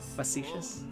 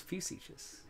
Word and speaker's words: facetious: too yeah yes facetious you're saying it wrong fuchsias facetious you're being facetious i thought it was a few sieges great no wait no